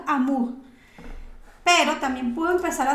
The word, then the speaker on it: amour: quitando la o entonces Amur amour no no amour no puede ser porque es u es u entonces Amur pero también puedo empezar